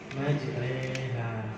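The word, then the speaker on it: مَجْرٖىهَا: Rohnya di fathah, setelahnya ada yaknya. Bacanya antara fathah ke kasroh. Majreha.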